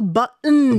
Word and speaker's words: button: 단추도 button 이렇게 발음하잖아요. Swallowed. 그런 소리들이 이렇게 목 뒷구멍 뭐 뒤쪽에서 나는 소리거든요.